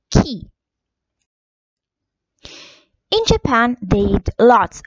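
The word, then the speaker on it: 木: And the kanji for tree is ki.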